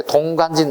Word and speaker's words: 동관진: 발음이 되게 어려워요. 발음을 빨리 해볼까요? 동강진, 동강진 무슨 발음인지 몰라요. 발음이 빨라지면. 발음을 천천히 하면 동관진이에요. 그러니까 되게 발음 어려운 동네, 동관진, 무조건 구석기 거예요.